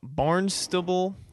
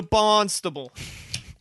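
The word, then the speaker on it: Barnstaple: like bournemouth right like we don't say mouth it's it's bournemouth you know those kind of those kind of words this is spelled barn stable i think it's called barnstable welcome to bonstable anywho as you were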